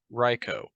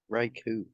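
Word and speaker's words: Raikou: and the owner of the final legendary beast ryko Riku it's right it's pronounced ryko in the Pokemon Rap Noah listen to the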